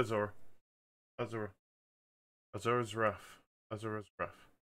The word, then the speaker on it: Asura: pronounced Asura. I call it Asura.